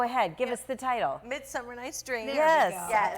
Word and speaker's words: Midsummer: Midsummer Night's Dream. Yes. Yes. I always want to put an S on Midsummer's there, and it's not right.